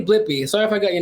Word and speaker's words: Blippi: Yeah, I'm looking up this Blippy. Am I saying it wrong? No, you're right. Blippi.